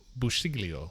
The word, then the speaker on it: Busciglio: in Italian but it's it's more of like a like busho in Italian it's busho so it's a lot of it's like a g but it's like a there's like several letters there that you don't say weird and it's like